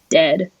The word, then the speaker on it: Dehd: a half, I think, is Dead. It's spelled Dehd.